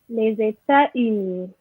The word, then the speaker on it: les États-Unis: Les États-Unis. Rihanna? Les États-Unis. Ok, très bien. Yes, Paris, you miss your liaison.